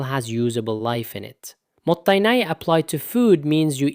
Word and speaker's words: mottainai: Pronounced roughly mottainai.